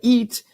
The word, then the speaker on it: eat: Agora, se você imaginar, quando você fala eat, que o som sai aos lados da sua boca, eat, com I como igreja, eat, daí fica mais fácil pronunciar esse som de I.